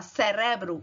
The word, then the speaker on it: cerebro: Já em espanhol você fala cerebro, a força no re.